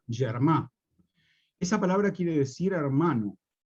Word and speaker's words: germà: como germà, con G, pero eso se pronuncia germà.